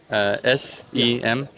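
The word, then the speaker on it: sem fim: You're gonna have to spell that. How do you say that? Semfim.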